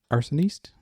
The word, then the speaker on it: Arsoniste: earth altar and here we are now with arsonist did i say it right hello yes you